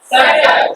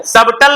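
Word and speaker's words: subtle: इन the same manner सटल क्या है सटल सबटल नहीं पढ़ेंगे सटल य भी बी साइलेंट हो जाए क्यों बिकॉज टी के पहले आ रहा है डेटर क्या पढ़ते हैं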